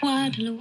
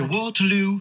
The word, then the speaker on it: Waterloo: Parce qu'en anglais, par exemple, sur le mot Waterloo, c'est... Waterloo, oui. Et en anglais, c'est Waterloo. Oui. Donc, par rapport aux syllabes, il ne faut pas mettre l'intonation sur la même syllabe.